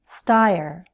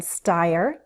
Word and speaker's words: Steyer: Both those last names have consonant blends, 2 consonant sounds together. ST in Steyer, BL in Bloomberg. And note the pattern. Most 2-syllable last names have stress on the first syllable. Steyer, Bloomberg.